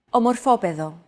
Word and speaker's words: Ομορφόπεδο: This word, as well as the previous one, share the same root. However, the accent mark had to be moved over to a different syllable in order to comply with our accentuation golden rule.